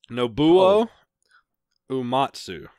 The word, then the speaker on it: Nobuo Uematsu: Star all right and help me with the pronunciation Nobuo Uematsu you got it okay the famous composer from